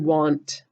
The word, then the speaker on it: want: to say ah but look in this word want it's saying wow it's making a short o sound a does that a